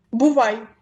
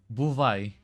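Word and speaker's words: бувай: Buvai. Buvai.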